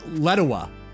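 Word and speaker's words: Lletya: Let Yeah, I called Let Yeah, but apparently it's Letoa. Letoa, Welsh or some It's weird.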